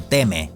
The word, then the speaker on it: Timmy: algo estadounidense Ya que en el idioma original no se pronuncia como tal Timmy se algo como teme aunque creo que todos